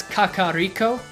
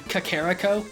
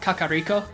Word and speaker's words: Kakariko: Japanese as opposed to Kakaako which sounds very American and that's why I think it's wrong because it sounds stupid come on so I'm in favor of Kakariko because again sounds sounds